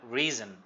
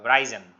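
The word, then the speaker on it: risen: যেটা বলি তাহলে have রিজন রাইজ রোজ রিজন উচ্চারণটা রিজন নট রাইজেন ঠিক আছে তারপরে দেখো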